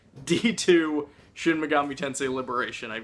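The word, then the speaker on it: Dx2: how to pronounce it turns out the X completely silent there's nothing to the XD it's just d2 should Megami Tensei liberation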